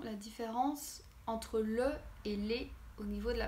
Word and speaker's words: le: niveau de la prononciation donc le se prononce le avec le sont eux comme la lettre e le lait donc les se ponce avec comme s'il y avait un accent aigu donc les le et